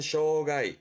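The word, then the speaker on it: 障害: 발음은 쇼가이 쇼가이요 장자는 지장의 장 막을 장자라서 말하자면은 하고자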